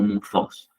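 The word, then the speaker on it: μῦθος: Esa Y que ven, ese mitos con TH Y, la Y se pronunciaría como entre una I y una U. Por eso sería muthos, algo así, la correcta pronunciación de la palabra en griego.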